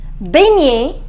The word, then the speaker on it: baigner: Baigner, ignorer, soigner, mignon, champignon, champagne et finalement signer. Just remember the pronunciation of GN is near en français.